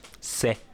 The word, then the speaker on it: Sex: Sexe, prononcé c'est, est une forme locale franco-provençale du latin saxum, qui signifie rocher, roc, sauf que ça s'écrit S-E-X.